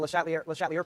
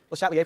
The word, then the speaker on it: Le Chatelier: And I've already sort of given you a clue about the Le Chatelier principle. Le Chatelier principle. Should try to use French pronunciation.